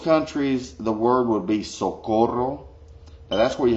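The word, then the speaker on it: socorro: the word would be so quotable that's where you have to roll your R because it's s o co r ro so called roll say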